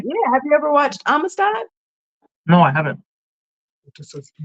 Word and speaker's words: Amistad: And you said it's called Armistice. Amistad.